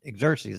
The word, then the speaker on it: Xerxes: Xerxes, that is the way you pronounce that.